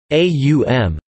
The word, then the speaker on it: Om: The word has three phonemes, aum, though it is often described as trisyllabic despite this being either archaic or the result of translation.